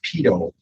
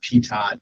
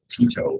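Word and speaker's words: pitot: should it's it's pronounced pedo um this is the the name right here you'll see it's it's not Pat or something like that it's called Pito it's a French term so um but again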